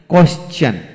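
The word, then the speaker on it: question: তবে নোট হলো কিছু কিছু ক্ষেত্রে টি এর আগে এস থাকলে টি এর উচ্চারণ চ এর মতো হয়। যেমন কোয়েশ্চেন, কোয়েশ্চন, এইভাবে হবে, কোয়েশ্চন হবে।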